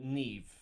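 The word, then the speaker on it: Niamh: And and Mave I thought was um is it Mave or Nive? Uh Nev.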